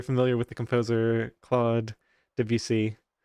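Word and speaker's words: Debussy: Is that roughly how you pronounce that or is it um the the sounds were right but you did put emphasis on on certain syllable which we wouldn't do.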